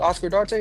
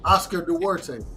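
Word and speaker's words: Duarte: Oscar Darte. How you say his name? Oscar Dwarte.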